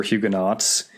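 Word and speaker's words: Huguenots: with a couple of the Hugo or hugenots you just call them Hugo I think we can stick to the Doctor Who pronunciation Nicholas and gastan are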